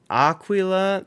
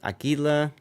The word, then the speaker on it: Aquila: game by the way how is it pronounced is it Aquila Aila first one Aqua okay I thought it